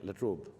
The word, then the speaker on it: La Trobe: I'm deeply grateful to the university, the La Trobe, do I pronounce it right? La Trobe.